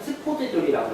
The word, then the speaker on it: 스포드졸: 지질학에서는 스포드졸이라고 해요. 왜냐하면 이게 제가 알기로 원소기가 이렇게 되기 때문에 영어에서는 목음이 되지만 S를 발음할 경우에 스포드졸이 되기 때문에 원표기는 스포드졸입니다.